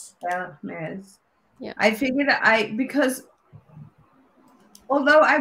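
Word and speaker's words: Hermès: You don't say the H. The H is silent. So it's Hermes. Hermes.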